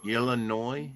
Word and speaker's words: Illinois: State 205 years ago wow and you don't pronounce the seems like just yesterday it was 170 years old Illinois yeah yeah Illinois Illinois yeah it is that